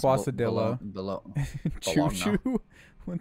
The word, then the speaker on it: quesadilla: So my capital, it may confuse you because you might want to say quesadilla, but it's quesadilla. Pronounced quasadilla. Quasadilla.